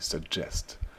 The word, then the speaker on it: suggest: le verbe suggérer attention la prononciation du verbe suggérer en anglais c'est tout suggest comme s'il y avait un D suggest i suggest et vous